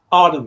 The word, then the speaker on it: Arnhem: Arnhem or Arnhem? Arnhem, yes, that's it.